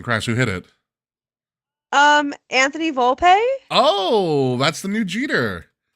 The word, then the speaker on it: Volpe: Anthony Volpe. Oh, that's the new Jeter. It's the new Jeter. Is that? Did I say his name? Anthony right? Volpe.